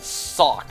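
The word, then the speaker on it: Sawk: in like throwing something, and then sock, as in like you put on a pair of socks. Well, I think sock I pronounce the same way, like sock.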